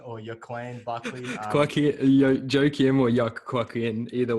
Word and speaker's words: Joaquin: Joaquin Buckley, I believe it's pronounced Joaquin or Joaquin Buckley.